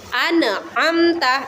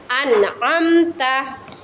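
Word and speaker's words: أنعمت: Tidak memantul seperti ana, amta. Itu salah ya anak-anak. Atau didengungkan an, amta. Itu salah lagi ya anak-anak. Jadi yang jelas itu an, amta.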